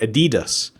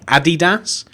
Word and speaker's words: Adidas: around here and like Americans and maybe other people call it Adidas so I guess it depends where you're from I wonder how you guys pronounce it do you pronounce it like a DDoS like you know like